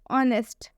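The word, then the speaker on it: honest: हा के बाद से वो ए रहा है ऑनेस्ट इसलिए पढ़ने क्योंकि इसमें भी साइलेंट है ऑनेस्ट इसका मतलब होता है ईमानदार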